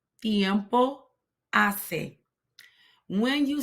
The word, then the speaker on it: tiempo: word Tiempo notice that I'm placing my tongue between my teeth in order to soften the letter t okay and an H